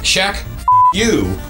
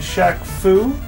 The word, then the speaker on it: Shaq-Fu: this one huh today we'll be looking at Shaq you on today's it's pronounced Shak FU oh yeah right okay today we'll be looking